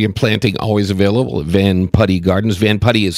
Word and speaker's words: Van Putte: stock with delivery and planting always available at Van putty Gardens van putty is spelled it by the way v n p